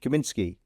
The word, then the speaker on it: Kaminsky: Did I pronounce it? Kaminsky.